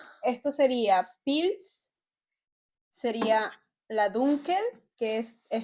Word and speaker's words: Pils: Wie Pilzbier, Pils. Es ist wie Pilzbier.